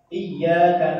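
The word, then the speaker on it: إِيَّاكَ: Tasydid itu ditekan. Iya bukan iya, itu masalah ditekan, tapi malah dimadkan. Iya sama saya ditekan, karena kami tinggal menggerak iyyaka na'budu wa iyyaka nasta'in. Malah kita baca tanpa tasydid.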